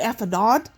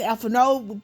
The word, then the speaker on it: Alphinaud: And some people say it's some people pronounce it Alphinaud. Some others are saying it's Alphinaud because the D is silenced, so it is what it is.